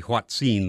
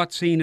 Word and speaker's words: hoatzin: is so curious and fascinating we'll consider the H scene this morning the name is spelled h o a t z i n